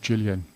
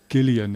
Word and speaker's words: Gillian: Um, and I nearly said Jillian. It's Gillian. It's the hard G. Okay. But it's spelled the same.